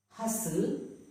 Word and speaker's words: hustle: Hustle, whistle.